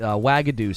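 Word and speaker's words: Uagadou: she's talking about the school in Uganda the wagadu school it's carved into the mountain and they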